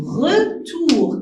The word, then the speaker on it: retour: Ici, le son OU. Toujours, vous commettez cette faute. On dit ou, une petite roue, et on prononce ou. O avec U, on la prononce ou. C'est pas O, non.